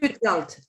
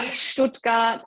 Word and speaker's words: Stuttgart: Stuttgart. Yeah, Stuttgart, Student. ST, yeah. Yeah, so there are some tricky pronunciation combinations.